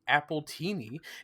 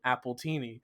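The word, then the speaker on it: Appletini: The nickname Spike gives to Applejack, Appleini, is pronounced the same as the name as an alcoholic drink, Appleini, paralleling her original name,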